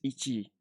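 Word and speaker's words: 一: ichi isn't uh it's it's not ichi it's ichi so you see you see what i put here um gl there's no small two there so uh there's no double syllable it's a double consonant it's just one this is ichi and then pass 20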